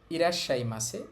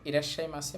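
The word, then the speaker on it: いらっしゃいませ: শুরুতে আছে ইরাশাই এখানে ছোট সু আছে এর জন্য এটা বাদ যাবে আর পরের উচ্চারণটা ডবল হবে ইরাশাই মাছে ইরাশাই মাছে মানে স্বাগতম এটা সাধারণত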